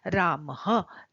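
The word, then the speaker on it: रामः: वि लगा होता है इसका उच्चारण थोड़ा थोड़ा ह जैसा होता है सांप के फुफकार की तरह रामह देवह मुनि ही गुरुह इस तरह से किया जाता है और इसका प्रयोग भी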